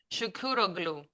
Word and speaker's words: Shukuroglou: Shukuroglou.